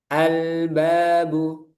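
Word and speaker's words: الباب: Lamnya dibaca jelas. Albabu. Albabu. Jangan terlalu lama. albabu atau ditekan al babu albabu. Nah, itu juga kesalahan. Nah, ini berlaku untuk semua lam. Nanti kalau setiap menemukan lam bacanya seperti itu. Jadi, ada aliran sedikit al segitu albabu. Jangan ditekan, jangan terlalu mengalir. Sedang.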